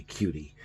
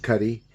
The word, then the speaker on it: Cuti: and this is written by Nicola Cuddy looks like it should be cutie but I think it's pronounced Cutty and Joe Stanton and